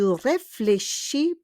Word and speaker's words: réfléchis: Je réfléchis beaucoup. Je réfléchis beaucoup. I think a lot. Marami akong iniisip. Okay? Réfléchis. Il y a un S, but we don't pronounce le S.